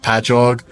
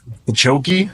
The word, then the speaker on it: Patchogue: I'm from Long Island, and from the cities that we have, it'll be like Patchogue, and they'll be like Chokey, and I'm like, no, it's just ingrained into my brain that I know how to say them.